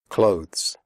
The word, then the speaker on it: clothes: comfortable not comfortable comfortable clothes the final sound is of the followed by an S clothes if this is difficult for you just pronounce it like clothes as in close the door close answer the W